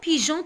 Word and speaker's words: pigeon: C'est pour éviter G, on ajoute un E muet pour prononcer G. Vous avez compris maintenant? Maintenant, le mot pigeon, par exemple.